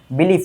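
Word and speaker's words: belief: মানে বিলিফ উচ্চারণে লাস্টে ফ বসাবা। বিলিফ মানে ধর্মীয় বা রাজনৈতিক বিশ্বাস।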